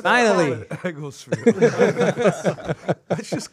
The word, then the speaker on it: Egglesfield: It Egglesfield. Nick, you like my shot? Yeah. Cool. Like a field of Eggles. It's a thing. All right, we're ready? Oh, we're ready. Yeah. All right. Finally. Egglesfield.